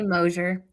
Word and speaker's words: Moser: So I'm delighted to welcome to Talking Weird my new friend, Moser. Did I get the Hi. pronunciation right? Hey. I say Moser.